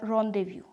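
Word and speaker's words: rendezvous: Second जो हमारा word है वो रोंदेव्यू, इसका मतलब है रोंदेव्यू, यानी ये दोनों जो वर्ड हैं इन्हीं में हम जेड को साइलेंट देखते हैं।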